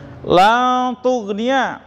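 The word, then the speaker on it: لا تغني: La tughniya ya, bacanya samar dengung. La, jadi jangan sampai ketara n-nya ya.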